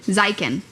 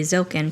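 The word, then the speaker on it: Ziken: Zikin is how I remember it. I pronounced it incorrectly. Zilken cuz there's no L.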